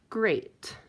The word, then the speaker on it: great: Now let's try the word great. Great. Great. EA says the A sound. So that it's not eh and it's not E. So great is an oddball.